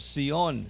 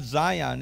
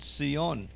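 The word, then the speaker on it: ציון: Well, one of the words, Sion, see. It's not Zion, it's not Mount Zion, and it's not Mount Sion with an S. It's not with a Z or an S, it's with a TZ.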